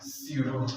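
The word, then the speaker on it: pseudo: এই যে এরকম বানান তো পি, তাহলে এই পি তো উচ্চারণ হবে না, তাই না? সিউডো।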